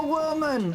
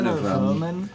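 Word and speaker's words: Werman: love Ming w a Worman I I love W Worman I hate to be a man with Worman well actually I think it's pronounced ver ver verman yes ver verman I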